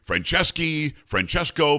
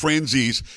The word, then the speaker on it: Franzese: People say Francesco. People used to call my family the Pagliarulo family. I mean, people, if you got a long Italian name, people will screw it up, but it's Franzese. It's spelled exactly like it sounds.